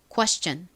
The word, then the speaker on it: question: 그리고 앞부분 que 부분은 한국식으로는 쾌라고 쓰지만 실제는 이 쿠에가 빠르게 발음된 소리입니다.